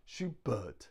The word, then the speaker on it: Schubert: Schubert Schubert Schubert but the stress is on the but Schubert Schubert so we stress the second syllable thank you very much